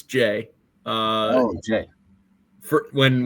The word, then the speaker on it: Jai: from Kentucky at Duke I spent like a couple weeks calling him ji because you just want to you see the the AI and want to pronounce it differently but but it is Jay um okay thanks for